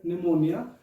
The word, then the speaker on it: pneumonia: can you see here pneumonia i just pronounced the word pneumonia where i used this p generally what we say that p is silent this is the fun